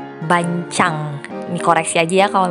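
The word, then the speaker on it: bánh tráng: Oke, kalau misalkan semuanya udah siap, nah tadi aku sempat googling gimana cara pengucapan kulit lumpia basah Vietnam ini, ternyata bacanya bancang.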